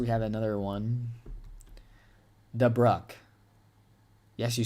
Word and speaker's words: Dubuque: Dubuque? Now I'm getting told different ways to say it, guys. Gosh. Okay, we have this get downgraded. All right, looks like we have another one. Dubruck.